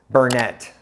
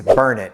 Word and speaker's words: Burnet: Shack another one is Bernett it's not Bernett it's Burnet think burn it D it and you'll